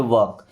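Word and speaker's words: walk: वॉक, देखिए इस वॉक word में एल साइलेंट है, वॉक नहीं पढ़ते, वॉक।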